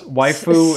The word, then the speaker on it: waifu: It's waifu and husbando. Oh, okay. Is how it's pronounced.